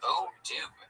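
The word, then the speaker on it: Odoo: First off, it's pronounced O Doo.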